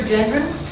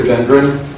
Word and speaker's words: Gendron: will be from Gendron am I pronouncing that right that's correct he's a state your name good evening members of the committee my name is Gendron I'm a sunny Valley